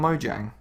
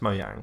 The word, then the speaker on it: Mojang: and not you personally do you not meant to I don't think so mo yang is saying on Mojang no it's mo yang cuz it's Chinese and it the game